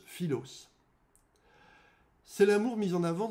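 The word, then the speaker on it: φίλος: Cet amour est associé au mot grec qui se prononce philos.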